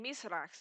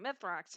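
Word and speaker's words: Mithrax: also the reason why i've been saying myself instead of mythrox is that it's the actual pronunciation of his name so this guy looks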